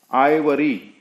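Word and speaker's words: ivory: आइवरी, यहां पर ई नहीं है, लेकिन ये वर्ड के अंदर जो आई है उसका प्रोनाउंसिएशन आई ही है।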